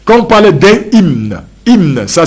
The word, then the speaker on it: hymne: Quand on parle d'un hymne, hymne, ça s'écrit H-Y-M-N-E, hymne, H-Y-M-N-E, on appelle ça hymne